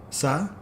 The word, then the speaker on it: ça: How do you say that? Ça, a little squiggle under the C. Ca? Ça? Ca? Ça. Ça, okay.